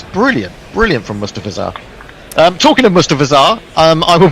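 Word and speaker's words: Mustafizur: It's Mustafizar.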